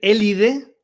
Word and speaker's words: Élide: élide hablo un paréntesis no confundir élide que es la zona donde estamos que es sin h con lad que es toda la Grecia